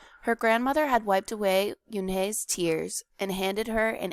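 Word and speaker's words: Unhei: ooh ooh un some kids chanted no no Yun corrected it spelled u n he e r I it's pronounced Yun oh it's you he the boy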